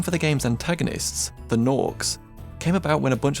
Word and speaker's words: Gnorc: Then somebody got tongue-tied and said Nork. They immediately knew that was what they were going to be called, and that it had to be spelt with a G.